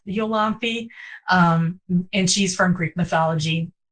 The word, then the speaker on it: Iolanthe: And then the same with, I say Iolanthe because that's how they say it in Gilbert and Sullivan. Although I had one interviewer pronounce it Yolanthe, and I think she's probably correct. I have a feeling, the British, they like to just say things however they feel like saying things. So it's probably better pronounced Yolanthe.